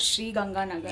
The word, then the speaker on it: Sri Ganganagar: You come from a place that's called Sri Ganganagar. Right. Am I right? At least आपने correct pronounce किया।